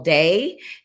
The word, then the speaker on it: DEI: they're trying to promote what you call day, which is correct pronunciation, but in the US we use it, it's an acronym, DEI, and it stands for diversity, equity, and inclusion.